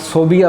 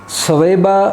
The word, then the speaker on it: ثویبہ: ماؤں میں حضرت ثویبہ، لوگ اسے غلط صوبیہ پڑھتے ہیں، صوبیہ نہیں بلکہ صحیح اس کا تلفظ ثویبہ ہے۔ سیدت حلیمہ رضی اللہ